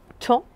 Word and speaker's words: tant: Et nous avons un petit mot outil qui est le petit mot temps, qui s'écrit ici T-A-N-T. Vous avez donc un T muet à la fin.